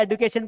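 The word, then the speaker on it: education: एजुकेशन। अच्छा, इसको एजुकेशन पढ़ेंगे या एडुकेशन पढ़ेंगे? तो आप दोनों पढ़ सकते हैं। इसे आप अगर एजुकेशन पढ़ेंगे तो आप अमेरिकन लैंग्वेज में प्रोनाउंस कर रहे हैं, इसे आप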